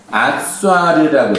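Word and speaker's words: עשר: 기억을 하실지 모르겠지만 점이 오른쪽에 붙으면 쉰이고 점이 왼쪽에 붙으면 씬이에요. 그렇죠? 그래서 이거는 아쏴르라고 해요. 아쏴르라고 발음하는데 지금 자음은 다 똑같죠.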